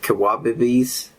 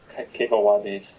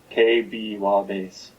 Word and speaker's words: Kebawabis: Kawabibis? It would have been Kebawabis. So the E's are pronounced like A's, basically, in Khokarsan. So it would be K-B-Wabis. So then pretty much equal stress on syllables.